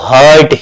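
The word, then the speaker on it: heart: हार्ट of India अच्छा बहुत लोग एच ई ए आर टी को हर्ट हेट पढ़ते इट्स राइट प्रोनंसिएशन इ हार्ट ठीक है लेकिन आप कहोगे सर उसमें तो एच ई ई साइलेंट है य भूल जाओ य कहता है मेरा उपयोग नहीं है मैं किसी काम का नहीं हूं तुम ए पढ़ो ठीक है ना चलो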